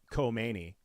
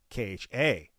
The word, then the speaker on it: Khamenei: So it's not Khamenei, it's spelled different. Khomeini, Khomeini. It's Khameni.